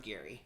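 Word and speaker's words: Gerry: Originally, you look at it and you think Jerry, because it's Jerry, but with a G. But he drew... in his productions, went with Gary. Like a hard G... E-A. So we're going with Gary, and yeah.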